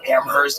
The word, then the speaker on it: Amherst: I mean like un like Amherst you get like amers gigs it was weird